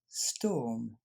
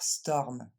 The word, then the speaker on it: storm: moins lui c'est écrit comme il faut ouais ce tome les français ont tendance à dire storm c'est pour ça que je les nie donc